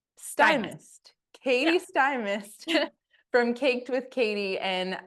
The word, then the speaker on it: Stymiest: you say you're so it's sty like an iy yes sty and then Mist sty Katie sty mist from caked with Katie